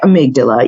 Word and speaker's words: amygdala: when they see that they don't know exactly how to say it but we say amygdala even though there's two